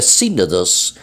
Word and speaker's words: sínodos: allí sin o dos Así se escribe sin o dos y se pronuncia sínodos el sínodo sinodal entonces